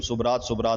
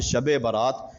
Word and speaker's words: شب برات: رات بڑی ہے اور ہم اس کا تلفظ صحیح معنوں میں ادا نہیں کرتے، ہم صبرات بولتے ہیں، جبکہ یہ صبرات نہیں، اس کا نام ہے شب برات۔ شب برات کا مطلب